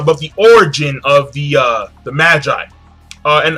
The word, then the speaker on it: Magi: Number two, we find out about the origin of the Magi, and I'm gonna say Magi, not Maggie, because Maggie is it's not appealing. Magi sounds cooler, much cooler.